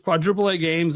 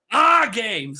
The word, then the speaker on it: AAAA Games: Uh and this is really cool because their company name is Quadruplea Games or I that's how I pronounce it. I don't know. There's four A's. So say ah ah games. There we go.